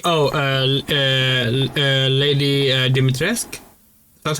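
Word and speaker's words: Dimitrescu: Oh, uh uh uh Lady Deitresque. That's how it's pronounced.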